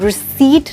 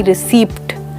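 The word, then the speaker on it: receipt: और क्या साइलेंट देखा आपने यहाँ पे? पी की साउंड नहीं बोली जा रही है, हम कहते हैं रिसीट ना कि रिसीप्ट।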